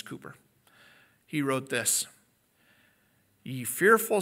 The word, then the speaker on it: Cowper: It's spelled C-O-W-P-E-R. Maybe it's pronounced Cowper. I've heard it pronounced Cowper, Cooper. However you want to say it, I think it's Cooper.